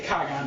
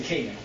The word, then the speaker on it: Kagan: I would say Kagan, but Americans say Kagan.